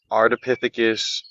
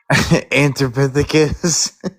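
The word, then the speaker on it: Ardipithecus: Yeah, that says uh Artipythecus the left the higher left. I've been saying it wrong. What? What did What did you originally say? Anthropythecus.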